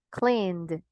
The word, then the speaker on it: cleaned: Voy con la pronunciación correcta. Yelled, cleaned, d. El sonido.